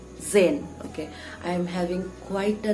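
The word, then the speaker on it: Tzain: same octa scene or whatever it is it's Zen okay I'm having quite a name problem with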